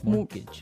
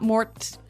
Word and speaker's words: mortgage: mean there's this strange mortgage with a t yeah it has a t in it but you don't pronounce it you say mortgage morgage so not Mort mortgage not morgage morgage